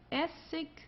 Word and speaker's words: Essig: Also hier haben wir ich, Essig, König. Okay? Also hier am Ende, das wird eher wie ein K ausgesprochen oder manchmal wie ein H, also wie du möchtest.